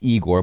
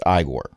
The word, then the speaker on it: Igor: You were told it was pronounced Igor, but it's Igor.